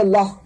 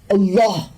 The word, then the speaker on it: اللہ: یہ الہی نام ہونٹوں سے ادا نہیں ہوتا کیونکہ اس میں کوئی نقطہ نہیں ہے. اب اللہ کا ذرا تلفظ کریں اور سمجھیں کہ آپ اسے کیسے ادا کرتے ہیں. آپ اس کے حروف کو اپنے حلق کے پچھلے حصے سے ادا کرتے ہیں بغیر ہونٹوں کو حرکت دیے.